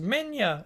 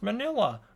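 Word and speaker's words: Minilla: hear people telling me it's pronounced Minya, it's pronounced Manila. I get it. It's said both ways.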